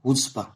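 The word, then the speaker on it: chutzpah: ठीक है, देखो, पहला वर्ड है हुस्पा। ये च की तरह नहीं, इसमें सी साइलेंट होता है, हुस्पा।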